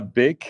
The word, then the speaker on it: Beeck: your last name uh big is pronounced a bit like uh bakery okay and the object